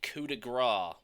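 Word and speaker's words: coup de grâce: a wait how do I spell what now coup de gras oh yeah the finishing blow it's it's built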